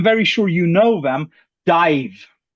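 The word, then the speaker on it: DIIV: So, my plug of the day is a band and I looked it up to pronounce it correctly and I'm very sure you know them. Dive.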